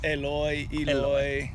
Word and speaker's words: Eloy: because I hear Americans say Eloy a lot. Is that correct? Is Eloy.